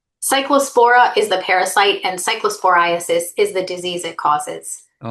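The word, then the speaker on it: cyclosporiasis: Cycllospora is the parasite and cycllosphorasis is the disease it causes.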